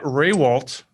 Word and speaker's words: Rehwoldt: And then, of course, we've got Matt Rehwoldt. Did I pronounce that right?